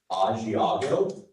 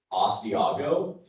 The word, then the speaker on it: Asiago: Yes, and I'll give you a couple different pronunciations here. And so listen carefully. We have Asiago, Asiago, Asiago.